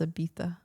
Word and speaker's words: Ibiza: I And thought it's pronounced Ibiza.